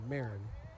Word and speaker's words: Marin: Marin, not Marine. Marin.